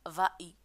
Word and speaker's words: vas-y: pronom y exemple vas-y on peut pas dire vas y on doit ajouter 6 s pour la prononcer vas-y merci beaucoup pour votre